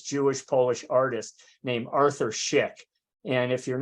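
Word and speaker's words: Szyk: on a famous Jewish polish artist named Arthur Schick and if you're not familiar with him it's spelled s-z-y-k I put it up on the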